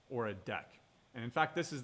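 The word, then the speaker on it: deque: package the Java interface deck and this is pronounced deck right d-e-q-u-e it's a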